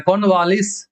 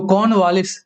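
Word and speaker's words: Cornwallis: तो कॉर्नवालिस, are silent हो जाता है इसमें। कॉर्नवालिस जब हम लोग बोलते हैं तो कॉर्नवालिस नहीं बोलते हैं, कॉर्नवालिस बोलते हैं, ठीक है।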